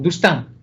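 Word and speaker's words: Doustin: que se conoce como la estrategia dustin o dustan se pronunci en francés cito a Daniel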